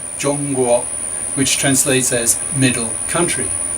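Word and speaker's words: 中国: In fact, China's name in Chinese is Zhongguo, pronounced Zhongguo, which translates as middle country.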